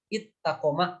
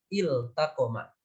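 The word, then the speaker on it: التقم: Sehingga tidak boleh kemudian membacanya diidghamkan. Ittaqoma misalnya. Tetapi izharkanlah, jelaskanlah bunyi lamnya iltaqoma.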